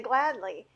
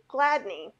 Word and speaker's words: Gladney: doc rock and um diana gladly gladney i always say her name wrong and they are awesome